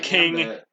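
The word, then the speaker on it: Kingambit: I don't like this thing's name because I feel like it should sound different than the word king. Ambit. And yeah, King Ambit.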